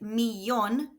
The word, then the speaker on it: millón: However, with millón, the stress needs to be on the last syllable. So this is shown with an accent.